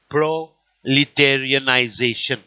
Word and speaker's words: proletarianization: the unemployed, which means, please listen to the pronunciation, it is proletarianization, coming from the word proletariat, meaning the working class.